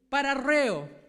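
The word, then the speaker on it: παραρρέω: la palabra deslizarse en el griego es para reo lo pronuncie bien hermano porque sabe que yo tengo logos y el logos aprieto la palabra y pongo pronunciación Y luego me la pronuncia y la puse como 20 veces para pronunciarla bien porque déjeme decirle que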